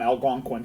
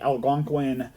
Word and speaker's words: Algonquin: Yeah, the only reason I know that is I have a cousin that used to live on Algonquin here, and that's how you pronounce it, Algonquin.